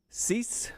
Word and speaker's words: Cease: stud for the white sox uh last name cease cease okay that's the way i was gonna